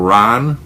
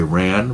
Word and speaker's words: Ran: of Shakespeare's King leer it's called Ron or you could say ran but Ron is the pronunciation um that's exactly what